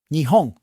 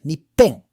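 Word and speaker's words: 日本: Nihon. Japan. It can also be pronounced as Nippon.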